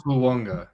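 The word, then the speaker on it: Fuaga: You say all of the syllables, and then an A and a G makes an N sound.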